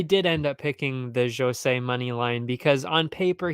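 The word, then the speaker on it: José: got his name wrong it is Jose not Joseph I'm an idiot I'm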